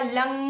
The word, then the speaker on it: लं: जैसे for example root चक्रा पे मैंने क्या बताया था, लंग लम, उसको बोला लम जाता है, पर प्रोनाउंस कैसे करेंगे, लंग, हमें स्टेबिलिटी देता है।